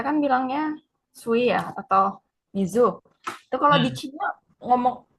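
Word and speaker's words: 水: Untuk kanji air bacanya apa? Mizu. Mizu. Atau bisa juga zui. Sui.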